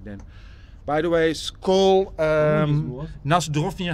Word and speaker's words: na zdrowie: By the way, Skol, na zdrowie.